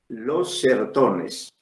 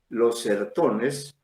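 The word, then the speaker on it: Os Sertões: se llama los cerrotones los sertones así como se escribe los serotones con ese no esa novela Los certones u o sertones se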